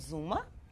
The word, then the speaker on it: Xooma: Our company is called Zuma. Spell it. X as in X-ray, OO, M as in Mary, A.